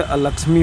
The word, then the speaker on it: अलक्ष्मी: अलक्ष्मी का नाश होगा, लेकिन लक्ष्मी का नाश होगा। लोग उच्चारण में गलती करते हैं तो अलक्ष्मी की जगह लक्ष्मी का नाश हो जाता है।